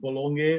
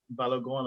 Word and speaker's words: Balogun: But I'm hearing I think what's his name, Florent Bologna, or how he pronounces Balogun. Balogun.